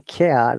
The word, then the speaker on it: care: The spelling care, this A sounds like I, not A.